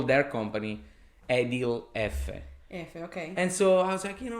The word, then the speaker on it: Effe: My dad has a construction business in Italy, and it's called Edil Effe. Effe is the pronunciation of the letter F in Italian. Effe, that's how you pronounce it.